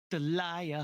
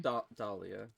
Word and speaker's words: Dahlia: 5 years ago, I kidnapped my girlfriend, Delia Hawthorne. Dahlia. That's Dahlia.